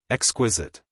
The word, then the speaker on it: exquisite: have thought of exquisite exquisite she repeated the word with a sarcastic inflection putting the accent as everyone put it on the second syllable I don't think that